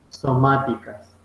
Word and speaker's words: somáticas: División celular de células somáticas. Esa palabra de somáticas es con S al principio y con acento en la O. Somáticas.